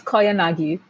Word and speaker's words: Koyanagi: Did I pronounce that anywhere close to the realm of close? It's Koyanagi.